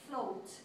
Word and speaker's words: float: so for the rule the second vowel which is a then becomes silent so the first vowel takes the long sound which would be oh so that's why it's for is pronounced float float now the next